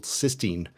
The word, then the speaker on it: cystine: He called this new molecule cystine. And yes, conveniently for everyone, they're both pronounced the same way.